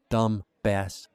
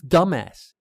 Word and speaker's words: dumbass: She pronounced the B in dumbass again. Dumb bass. Knowing she had an idiotic flaw gave me confidence. I almost told her about it. I almost said, it's dumbass, dumbass.